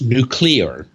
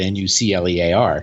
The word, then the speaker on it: nuclear: But, if you look at how the word is spelled, nuclear, right, not nuclear. And a lot of people say nuclear, but I don't necessarily expect a nuclear engineer to say it.